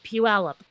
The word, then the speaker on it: Puyallup: ridiculous some of the things people can put pure point pull up and no dude Puyallup now she lives in courage and is much